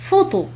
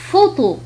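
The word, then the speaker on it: photo: مثال آخر هو عندما يأتي بعد حرف بي حرف اش ينطق اف. مثال فوتو. إذن هنا الاستثناء الوحيد الذي ينطق فيه كحرف اف عندما يلتقي بي وحرف اش تنطق كحرف اف. فوتو.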